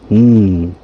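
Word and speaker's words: ん: So that one is just pronounced "Mm."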